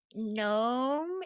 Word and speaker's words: gnome: H I don't think I've ever read a gnome. Gnome. Is that how you say it? Gnome. Yeah. I mean it it the G is definitely silent.